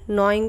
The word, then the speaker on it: gnawing: करते हैं और इसे क्या कहा जाता है नोइंग ऑफ फूड इसकी स्पेलिंग आप जरूर याद कर लीजिए जी एन